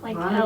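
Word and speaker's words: Launa: her name is Lady Lana lady Lana Lana laana l a u n a oh not like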